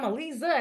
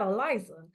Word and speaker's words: Aliza: I felt oh you know this this woman here she actually cares you know like I'm Alisa not Eliza.